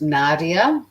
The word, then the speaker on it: Nadiya: It's an English girl called Nadia, but it's spelled Nadiya, and she does these sort of recipes that are meant to save heaps of time.